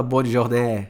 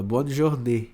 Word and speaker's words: bonne journée: Então, ó, você não fala bonne journée, você fala bonne journée. Agora, se esse acento tivesse pra cá, aí você falaria bonne journée.